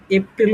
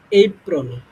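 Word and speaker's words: April: হবে তোমার হচ্ছে মাচ এরপরে যেটা আসে তোমার এপ্রিল উচ্চারণ করতাম এটা এতদিন আমরা এটা উচ্চারণ হবে তোমার হচ্ছে এই প্রল হ্যা এপ্রল যেমন হচ্ছে আমরা এর উচ্চারণ কি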